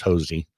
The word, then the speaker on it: Hosea: And it's Hosea, but he's from Dry Holler, so it's Hosey.